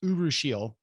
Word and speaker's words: urushiol: it looks like you were all but it's pronounced urushiol uh so urushiol oil and uh you can